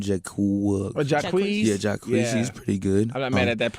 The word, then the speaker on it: Jacquees: Yeah, Jacquees. Yeah. He's pretty good. I'm not mad at that pronunciation.